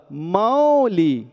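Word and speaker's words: मौलि: सकते हैं वैसे ही म के लिए मौ पढ़िए और ला में लगी ई की मात्रा पढ़ने थोड़ा सा म को खींचिए इकार के साथ ल का उच्चारण सही हो जाएगा इसलिए भक्ता मर प्र नत माओली पढ़िए अब देखिएगा मणि शब्द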